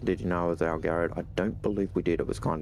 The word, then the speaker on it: Algared: Algared, that's how you say it.